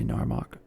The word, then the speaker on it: Gnarmok: Now, why do I pronounce the G in Gnarmok, but I don't pronounce it in Nisus? I'll just say Narmok.